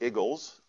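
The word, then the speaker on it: IGLS: There's a technique called iterative generalized least squares, which is somewhat sillily, if there's such a word, pronounced Eagles.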